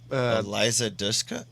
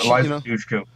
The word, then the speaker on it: Eliza Dushku: I can never pronounce her freaking name. Eliza Dushka? Yeah, yeah. Eliza Dushku.